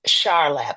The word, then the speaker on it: Charlap: I could say, spiritually, it came to me, and I heard his name, and it's Charlap, not Char.